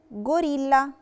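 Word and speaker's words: gorilla: غوريلا، غوريلا نطقتها غوريلا علشان قعدت لتر جي وراها لا لتر فوكال او، بتبقى جا وبتبقى جي دورة فنطقتها غوريلا.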